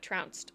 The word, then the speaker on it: trounced: Like pounced, but trounced.